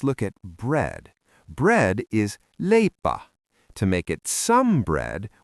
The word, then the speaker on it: leipä: Bread is lea.